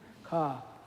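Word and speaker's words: ཀ: word for word Ka but if you pronounce it because it's a tonal language it's car is the next one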